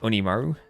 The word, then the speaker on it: Oniimaru: I was told like that the I part is the emphasized part like Oniimaru and the like the O and the Maru is less emphasized.